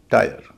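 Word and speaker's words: tyre: तरह एफ आई आरई fire T वाई आरई टायर retire आई का एक छठा उच्चारण भी होता है यह एक ऐसा उच्चारण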